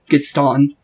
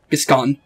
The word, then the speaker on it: Gascon: Do you really think that is it, Gaston? Gascon. Oh, I thought it... Yeah, I said it right, okay. This time I said it wrong, I said Gaston, but I haven't saying his name right.